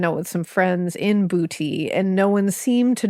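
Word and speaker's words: Boutte: Joseph Brown had grown up in and I looked up the pronunciation of this place in Louisiana and it is pronounced bouty Louisiana.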